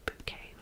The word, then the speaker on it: Bucket: Hyacinth Bucket, pronounced bouquet, goes to incredible lengths in her quest for perfection.